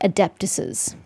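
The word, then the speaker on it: adeptus's: I'm used to seeing it with an extra s, but you're supposed to pronounce both s's, ma'am.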